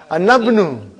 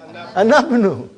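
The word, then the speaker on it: أنا ابنُ: But how will I pronounce? Anabnu. How will you say? Anabnu. Anabnu I'll pronounce.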